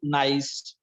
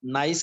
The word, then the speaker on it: gneiss: Next metamorphic rock is gneiss. G is silent here. यहाँ पे जो G है वो silent रहेगा. Gneiss नहीं बोलेंगे इसको, gneiss कहेंगे.